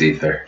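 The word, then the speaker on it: Aether: But as far as, like, down-tempo stuff, Emancipator, Ether, I don't know how to pronounce it. It's A-E-T-H-E-R. I think it's Ether. It's Ether.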